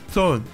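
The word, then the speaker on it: 佐恩: 读音 Zone，佐恩将地下的岩浆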